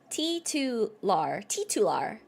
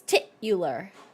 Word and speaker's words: titular: How was I saying it? I was like, titular. But it's titular.